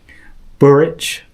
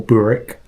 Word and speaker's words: Burrich: Burrich, or Burrick, depending on how you wanted to pronounce it, is Fitz's reluctant caretaker.